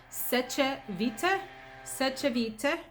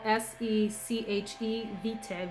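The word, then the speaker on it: Sèche Vite: Seche Vite. You can get this on Amazon as well. S-E-C-H-E Vite, V-I-T-E.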